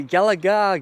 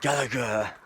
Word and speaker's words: Gallagher: do you pronounce it do you say say Galaga galag he said Gallagher yeah just remember that